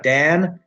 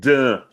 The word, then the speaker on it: Dan: Dan - that's me. By the way, "Dan" not "Dun", which is how you would pronounce that in Portuguese.